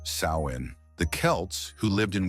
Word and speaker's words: Samhain: years to the ancient Celtic Festival of hun pronounced sain the Kelts who lived in what is now